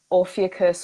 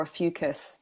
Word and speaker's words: Ophiuchus: And that includes a 13th star sign, which is Ophiuchus or Ophiuchus, like either way it can be pronounced.